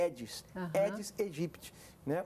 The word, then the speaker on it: Aedes: Todo mundo fala Aedes, mas a pronúncia correta é Aedes, Aedes aegypti.